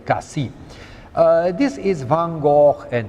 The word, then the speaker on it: Cassis: This lovely spot is called Cassis, and they pronounce the S. Officially, they should not. It is really Cassis.